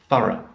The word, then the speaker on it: thorough: meticulous or complete so thorough so the the sound here is uh it's the schwa sound so ah very short sound like in computer mother teacher it's that last sound